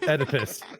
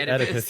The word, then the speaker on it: Oedipus: Oedipus. No, the Oedipus ending. It's spelled with an O, though.